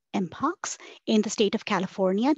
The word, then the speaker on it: mpox: recommended that monkey pox be renamed to MPX pronounced as mpox in the state of